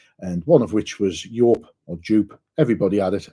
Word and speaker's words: Yope: An editor gets points for pronouncing it right and not saying dupe, but yes, Yope is my opinion on how 1993 was.